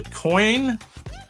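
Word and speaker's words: Coyne: Well, I I I'm going to have trouble pronouncing this. It's called the coin helicopter incident or coney.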